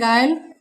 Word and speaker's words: guile: For example GUILE, तो यहाँ यू के बाद क्या है हमारा वोवेल्स आया हुआ है, तो इसे पढ़ेंगे गाइल, गिल्ड, गिल्ट, गिटार, बिस्किट।